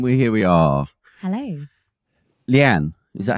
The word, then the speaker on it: Lianne: Lianne, is that how it's pronounced? It is. Lianne.